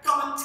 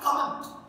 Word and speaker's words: comment: हम लोग बहुत सारे लोग कहते हैं comment किया है. It's not comment. It's comment. Comment. Comment. It's comment. Comment. Very important word and commonly mistaken.